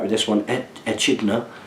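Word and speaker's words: echidna: right with this one eidner pronounced idna is a mammal that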